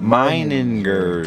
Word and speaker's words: Meininger: Look how it's spelled. Meiningers.